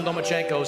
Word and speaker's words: Lomachenko: You are now the mandatory challenger for Vasily Lomachenko's 135-pound title. Do you believe at 20 years old you're ready for that type of challenge? I think you said his name wrong. It's Lomachenko because he doesn't want to fight me.